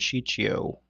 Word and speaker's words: Ciccio: Franco and Ciccio.